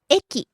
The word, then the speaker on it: 駅: First word, 駅 station. 駅駅 Starts high, falls on the second syllable ki.